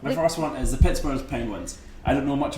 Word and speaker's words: Pittsburgh: Now, the Americans say Pittsburgh, I'd say Pittsburgh, because in Scotland you'd spell that borough, but it's a G instead of an H.